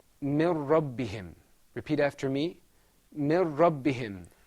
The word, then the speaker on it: من ربهم: This is pronounced mir rabbihim.